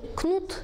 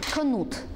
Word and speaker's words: Canute: Sometimes this king is called Knut, sometimes Canute, but the stress is on the last syllable.